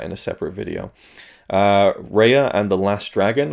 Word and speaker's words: Raya: a separate video uh reya and the last dragon was it raya i think it's raya raya raya